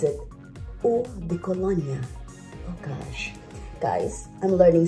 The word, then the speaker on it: eau de Cologne: They pronounce it Eau de Cologne.